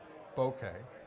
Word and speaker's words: bokeh: okay hear that okay I went on the internet and found somebody that could say it correctly that spoke Japanese bokeh is the correct way and it's a quality